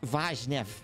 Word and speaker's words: Vaznev: By the way, it's pronounced Vaznev. All right, lads, don't make the mistake. Vaznev.